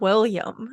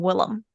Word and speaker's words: Willem: His name is not William, and I've Yeah, spent all these years thinking he was William. nope. Why Willem. didn't anyone tell me sooner? Well, it's spelled like Willem.